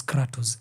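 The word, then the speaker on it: κράτος: Krasi basically is pronounced as kratos in Greece, which basically means power.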